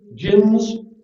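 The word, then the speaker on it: djinns: good and evil binge jinns you don't usually pronounce the d jinns these are also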